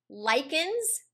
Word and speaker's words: lichen: Examples of how this happens, well, lichens, it's not pronounced lichen, it's pronounced lichen, and a lichen